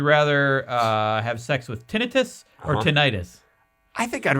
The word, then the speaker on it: tinnitus: to get tinnitus and it is pronounced tinnitus it's not pronounced tinnitus no matter what you think well tonight it sounds better tonight it sounds better but it's pronounced tinnitus that's stupid i i know it's stupid but that's how it's pronounced no i don't want